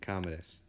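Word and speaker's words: Commodus: aurelius's son uh kdus that's how you pronounce his name kdus sorry I didn't mean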